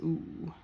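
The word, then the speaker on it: у: then that's why and how it's pronounced is ooh but as a word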